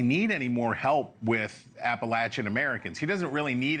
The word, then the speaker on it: Appalachia: Well, first of all, Leland, you know it's pronounced Appalachia.